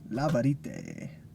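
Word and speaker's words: La Vérité: Didn't realize how new this was to the collection, but it's La Verite. La Verite. La Verite. Exactly. Good thing I have Nick here to help me pronounce the...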